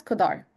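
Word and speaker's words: cdr: car function fun and this one is pronounced as kodar.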